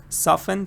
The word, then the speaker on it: soften: next one Zahara said soften soften T is silent ah here's interesting if